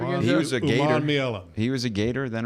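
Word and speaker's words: Umanmielen: Uman Mielen. Huh? Yeah. Princely Uman Mielen. We just call him Princely. Princely Uman Mielen. Uman Mielen. Yes. Say it again. He was a Gator. Uman Mielen.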